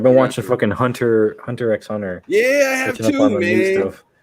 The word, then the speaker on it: Hunter x Hunter: it's Hunter Cross Hunter. Hunter Cross Hunter. Who told Hunter- you Listen that? here, Who told you people. that? It's Hunter x Hunter.